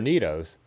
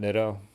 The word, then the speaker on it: Nitto: heat treated oh they're neatos they're definitely neatos so we at least got the brand right there and i know you guys right you've told me the pronunciation is neato not nitto i bet you can